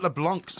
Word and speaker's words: LeBlanc: He says, Porky, Matt LeBlanc's surname is pronounced to rhyme with Blanc, not with plank.